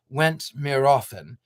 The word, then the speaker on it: Went More Often: That most magical kingdoms was called Went More Often, pronounced Went Mir Often, and was ruled by the kindly King Archibald Quilkitten.